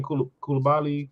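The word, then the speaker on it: Coulibaly: Kulabali.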